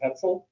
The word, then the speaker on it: Hetzel: e dot last name is hetzel rhymes with pretzel so